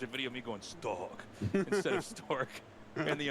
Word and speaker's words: Stork: names with them, and they actually made me say Stork over the wrong way. They were like, you can do it, but you're saying his name wrong. It's Stalk.